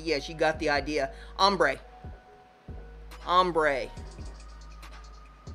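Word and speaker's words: ombré: Ombre. Ombre. It's spelled, get it into the thing here, it's O-M-B-R-E is how it's spelled.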